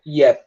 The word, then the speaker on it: yep: Com um P mesmo, tá? E na pronúncia esse P quase não sai. Yep mesmo.